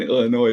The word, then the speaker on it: Illinois: There is no L in Illinois, by the way.